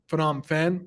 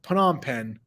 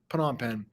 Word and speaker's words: Phnom Penh: Rouge occupied cambodia's Capital Phenom Fen Phnom Penh I always say it wrong put on pen put on pen on April 17 1975